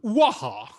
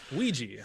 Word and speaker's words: Ouija: How do you pronounce it? Is that how it goes? I thought it was Waha. Not Waha. Wahaha. A Waha. Waka waka. Ouija, huh?